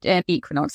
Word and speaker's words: Equinox: It's Equinox, actually, is pronounced. I better pronounce it Equinox on this podcast.